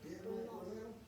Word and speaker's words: Bryn Mawr: That means you're in the Bryn Mawr Park category. Bryn Mawr.